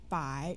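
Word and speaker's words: 百: yi by is 100 say bye with me by by is hundred what is 100 yes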